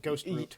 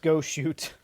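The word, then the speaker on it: Goshute: I was going to say is sounds like you were saying shony and now you just said ghost route. No, go shoot.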